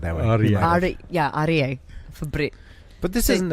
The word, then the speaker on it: Aryeh: You've got to say his name R-E-A. That's right. Aryeh.